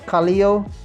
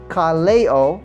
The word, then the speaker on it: Kaleo: i'm really sorry um i always said kaleo kalio kaliyu that's what i'm that's why my that was my pronunciation but somebody pointed me out that it's carleo so thank you for